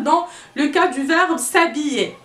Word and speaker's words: s'habiller: le cas du zar s'habiller s'habiller kick down le hb qu'on ne prononce pas s'habiller ouais voilà sa